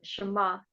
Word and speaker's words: Shema: and that's how um shama ends is so it has like a almost a cup of pending when you say it so you do like